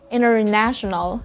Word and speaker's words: international: If a word is an adjective or a noun and it has 4 syllables, we normally put the stress on the third syllable. Television, television. International, international.